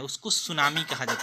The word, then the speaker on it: सुनामी: है और आप इसे सुनामी पढ़ रहे हैं, तो स्टूडेंट यहाँ पे टी साइलेंट हो जाता है। ठीक है, और उससे सुनामी ही पढ़ा जाता है।